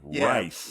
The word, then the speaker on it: Reist: how you pronounce that thing. Reist.